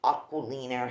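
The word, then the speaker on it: Aquolina: This is the famous sugared lavender twist, pink sugar fragrance, Aquilina, how it's pronounced.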